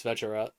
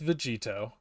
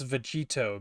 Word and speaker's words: Vegito: only the English name in Japanese it's vegera no it's not it's Vito pretty sure it is it's Vegito that's that's why it's Vegito because they took the to at the end of kakaroto which is the Japanese